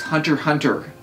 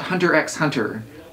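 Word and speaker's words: Hunter × Hunter: are saying it correctly it's hunter hunter not hunter x hunter all the x's are esthetic markers in the title it is not X pronounce that X this way X personal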